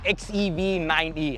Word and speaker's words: XEV 9e: We're going to first talk about the XEV9E. Have I pronounced that right?